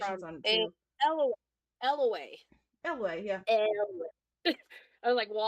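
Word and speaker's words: Eyllwe: So and her the wiki has the place is pronunciations from on it too. Elway.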